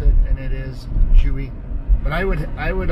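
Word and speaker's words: Zhiyun: spelled Zhi y UN and most people online pronounce it sigh you or ji Yoon ji Yoon but it's not it's Juhi which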